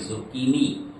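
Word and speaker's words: zucchini: का मसला बहुत ज्यादा रहता है इसको पढ़ेंगे जुकीनी जुकीनी जुकीनी जुकीनी जुकीनी जुकीनी तो जुकीनी कहेंगे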